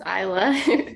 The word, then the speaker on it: Isla: I want to make sure I pronounce this. Is this Isla? Isla Cox? Is that? Hi, yes, it's Isla.